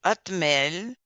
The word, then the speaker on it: hotmail: Oh, les Français ne prononcent pas la lettre H. Donc, ils vont dire hotmail ou hot dog. La lettre H est mude.